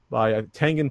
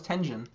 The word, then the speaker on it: Tengen: it was not a bad port by Tengen published it. Atari Games came out with it. Is that how you pronounce that? I always thought it was Tenjin.